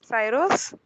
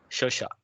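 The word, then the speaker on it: Saoirse: guess is it's uh it's an irish name if you see the pronunciation has no connection with the spelling as such but that's how irish spelled their name it's shosha and we have one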